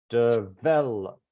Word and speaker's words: developed: Where's the stress? Developed. 2nd, right?